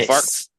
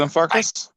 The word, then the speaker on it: Glenfarclas: Is it I, Glenfarclas? I don't know. I call them Glen litigious. You can call them what you like to call them. You can't say, but it rhymes with Farkless.